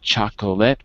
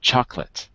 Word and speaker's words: chocolate: But the other ones are good because you can really see that we drop the syllables, right? Not chocolate, but chocolate. Interesting. Not favorite, but favorite. Right.